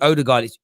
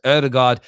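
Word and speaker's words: Ødegaard: bad when aubameyang and it's not actually older guys i think it's actually pronounced erdogard came in uh they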